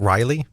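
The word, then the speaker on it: R'lyeh: you say that right I pronounce it Riley right because my 11 year old daughter is named Riley okay well I mean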